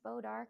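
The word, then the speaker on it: bois d'arc: Wadark, pronounced bodark in that area, was gold in color and good against rot, but tough to work with.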